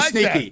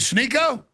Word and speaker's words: Sneako: You call me Sneaky. You call me Sneaky. Let's say my name correct. Sniko. Snicklets. Snooper. Snycotic. Is is it Sneo?